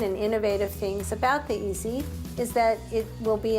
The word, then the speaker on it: EASI: In English, that spells EASI, which we can pronounce easy.